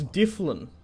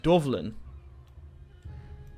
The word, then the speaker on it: Difflin: It's interesting the naming of it, because it was like, it's Difflin now, isn't it? That's how you pronounce it. But I've heard it pronounced Dovlin in a different time period.